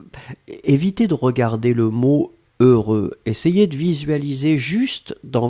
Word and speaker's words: heureux: voulaient prononcé deux fois heureux donc ne ne regardez pas le h ne regardait pas le x ne regardait pas le eu juste fermer les yeux visualiser c'est cette combinaison heureux heureux et après vous